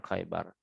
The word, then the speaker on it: Khaybar: pada waktu pelaksanaan perang Khaybar. Khaybar bacanya bil kha'il mu'jamah awwaluhu. Dibaca dengan kha yang bertitik di awalnya, di awal kata tuh kha gitu maksudnya. Warra akhiruhu, dan ra pada akhirnya.